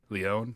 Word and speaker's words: Leone: and productions that Damien Leone, is that how you pronounce his last name? I'm Leone? pretty sure it's pronounced Leon.